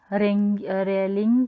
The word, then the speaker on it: Rayleigh: फिर रमन को एक लेटर आया लॉर्ड रेलिंग की तरफ से, लॉर्ड रेले की तरफ से, स्पेलिंग इसकी RAYLEIGH होगी, प्रोनाउंसिएशन इसकी रेले ही करते हैं।